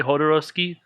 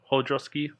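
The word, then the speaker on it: Jodorowsky: again i think it's people say hodorovsky but i think it's mainly i think it's more of hodroski hodrowski yeah hodarovsky hodroski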